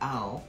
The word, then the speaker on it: I'll: Que es I apóstrofe LL y se pronuncia I'll, ¿ok?